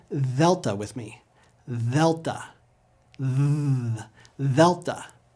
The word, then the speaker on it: Delta: A soft D will sound like TH, th, like we hear in the words therefore, this, or brother. Now say delta with me.